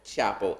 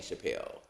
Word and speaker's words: Chappelle: was answering to both Chapple and Chappelle. Well, you can pronounce it either way.